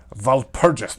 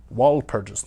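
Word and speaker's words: Walpurgis: no v in there it's german val purges not wall purges not anyways continuing on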